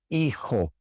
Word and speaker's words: hijo: So for example, in hora, hora, hijo, hijo, vehículo, vehículo. You can see in these words that we do not pronounce the H.